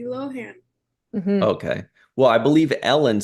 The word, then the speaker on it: Lohan: to say it yeah Lindsay loenen I think that's like the Irish way of saying it yeah I suppose yeah Lindsay so I wonder how she pronounces her actual last name that's a good question thank you let's think about that saw her on Ellen she called her Lindsay Lohan okay well I believe